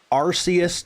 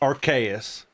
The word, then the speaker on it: Arceus: Like from a literal design point, it's not Arus. It's Archaeus. You have an Arc phone in the game. It's an Arc phone. You don't have an Ars phone.